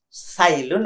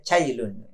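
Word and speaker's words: Cai Lun: ditemukan oleh bacanya Gimana chilun saya sempat ngecek itu tulisnya TS kemudian apostrop ailun sebagian membacanya se ailun ada yang bacanya sailun ada yang jugaembaca cailun ditemukan kira-kira tahun 105 Masehi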